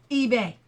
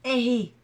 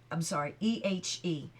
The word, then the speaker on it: ehe: "Ebe." "No, ehe," Etienne agreed. It's spelled E-H-E. For a minute I thought I was looking at a B, but it's E-H-E. So it's ehe.